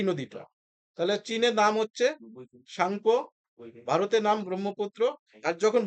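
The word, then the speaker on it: Tsangpo: Yearlong সাংপো। টি এর উচ্চারণ হবে না, সাংপো, ঠিক আছে?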